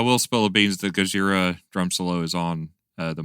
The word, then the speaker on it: Gojira: Is it Gojira, the drum solo? Yeah, Gojira, yeah.